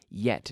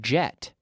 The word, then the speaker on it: yet: Yet. Now, not jet, but yet.